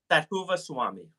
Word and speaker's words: Thathuvaswamy: Even after 10 years, they're like, when they meet me for the first time, how do you pronounce your last Yeah, name? yeah. So it is Swami. Thathuvaswamy.